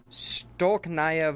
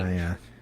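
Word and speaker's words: Stolichnaya: let me pronounce this right. Stolknaya vodka. There was an exchange. Stolknaya.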